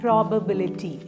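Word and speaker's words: probability: എബി ഐ എൽ ഐടിവൈ പ്രോബബിലിറ്റി പ്രോബബിലിറ്റി five syllable ഉണ്ട് stress ചെയ്യേണ്ടത് third syllabi ആണ് ബിലിറ്റി പ്രോബബിലിറ്റി നിങ്ങൾക്ക് എന്റെ ഈ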